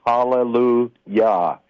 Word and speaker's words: hallelujah: And uh the other thing that confirms that is we don't say hallelujah, we say hallelujah. So the first syllable is ya.